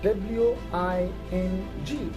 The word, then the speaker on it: wing: So wing is spelled as W-I-N-G. So N and G combined gave one single sound, and that is N, like in wing.